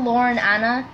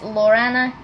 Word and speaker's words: Laurana: I made a different one, but it's not it's not Lauren Anna, it's Laurana.